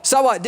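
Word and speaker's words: สวัสดี: the word right here this is saat d That's how you say it in Tai it just means hello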